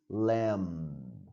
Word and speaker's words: lamb: meat we have is lamb don't pronounce the B and you know what